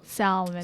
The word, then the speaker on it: salmon: a it's like calm like calm like where you don't pronounce the L calm Cal you know salmon salmon so you should do it